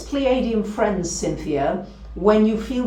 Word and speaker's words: Pleiadian: So, Canadian rhymes with Pleiadian, thank you.